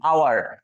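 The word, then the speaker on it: hour: কিন্তু আপনি যখন আওয়ার বলছেন আওয়ার, তখন এটা ভাওয়েল সাউন্ড চলে আসছে।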